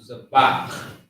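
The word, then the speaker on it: זבח: want to say Z so zabach zabach is how you say that and z means sacrifice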